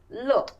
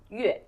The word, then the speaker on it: 乐: character, but one is 乐 and the other is 乐。 Exactly. So yeah, this is very interesting. The same character, it can be pronounced as 乐 or 乐.